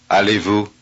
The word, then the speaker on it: allez-vous: Notice that the last letter of the first word is not pronounced either.